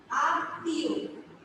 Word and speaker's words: আত্মীয়: তাহলে দেখো ত, দীপ্ত, আত্মীয়, অন্তস্থিকার ও, এটা হচ্ছে এটা উচ্চারণ। দেখো মাঝখানে শব্দটা তয়ের নিচে ম, এটাকে আমি দীপ্ত হবে, তাই মানে তটাকে দুইবার উচ্চারণ হবে তাহলে আত্মীয় সরিয়া ত